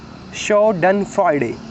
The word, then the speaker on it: Schadenfreude: shadane meaning harm and Friday meaning Joy it's pronounced show done Friday short and Friday that feeling of pleasure you